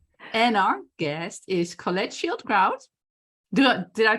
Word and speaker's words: Schildkraut: a guess guests and our guest is Colette Shield crowd did I pronounce it right yes yes yes actually amazingly